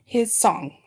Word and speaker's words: Hissong: different ones say it different ways when it's spelled with a TH. Teresa. Okay, and it's Hissong. I want to get it right. Hissong.